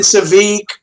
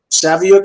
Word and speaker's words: Saviuk: do it right cheers very very close it's Savvy Oak but you gotta knock in there and that's not bad okay it's better than savik and Savino and Savio and savoik and I could come up with at least